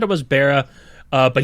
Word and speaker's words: Bara: he said it was Bara uh but he said it's fine if I he says people say bar all the time and I decided to